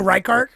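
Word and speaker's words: Reichardt: Kelly Rick Richard dude I don't know oh rard Kelly rard rard reard okay thanks rard I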